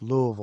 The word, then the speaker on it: Louisville: do you say it louville say say say it like you got golf balls in your mouth Louisville I can't Louisville Lille